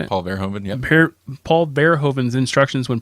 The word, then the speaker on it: Paul Verhoeven: Paul Verhoeven, yep.